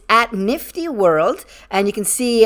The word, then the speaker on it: KNFTY: character super creative uh it's spelled knfty pronounced nifty and they describe it